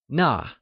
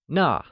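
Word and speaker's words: 那: That translayesas Nà whixh is also pronounced using the falling tone! Try and say Nà ,its like Nà !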